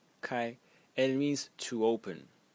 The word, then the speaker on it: 开: if we want to be pedantic it is pronounced Kai k and it means to open but originally